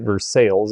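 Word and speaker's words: Versailles: redone by a fellow in versales Kentucky and yes they do pronounce it verses in this part of the country and this was done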